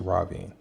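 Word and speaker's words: Rahvin: We can argue all day about pronunciation of these names, but what we cannot argue with is how it's pronounced in the audiobook. And in the audiobook, it's Ravin.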